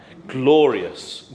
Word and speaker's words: glorious: Glorious. Glorious. So the rius becomes one syllable as well.